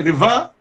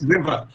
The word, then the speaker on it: river: Now, if you bring out the second syllable with, or the second puff with greater force than the first, then you will get river. Yes. River. That is incorrect pronunciation. Yes. It is river. We put greater force on re and less force on ver.